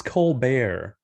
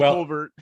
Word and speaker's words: Colbert: So our number 4 consensus pick at 130 was Chris Colbert. Is that not how you say his name? That's not how you say his name. Is that Rich? Colbert. Regular old Colbert.